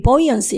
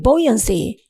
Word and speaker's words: buoyancy: 자신들의 어떤 부력 상태, 물 아래에서 떠있는 것, buoyancy, 발음이 buoyancy, 이건 부력, 떠있음입니다. 자, 화면 보십시오. 발음이 buoyancy, 물에 떠있음, 부력 이런 겁니다.